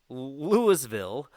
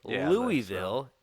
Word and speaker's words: Louisville: Everybody says Louisville or Louisville. It's Louisville. Louisville.